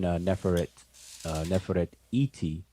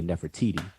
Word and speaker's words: Nefertiti: Neferet Iri, which is her name, but we pronounce it conventionally as Ahmos Nefertari. But her name, even Neferet Iti, is we say Nefertiti.